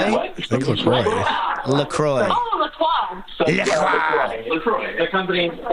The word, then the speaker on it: La Croix: Okay, how do you say the La Croix beverage? Do you pronounce it like a French person, or how do Americans? What are we supposed to call that crap?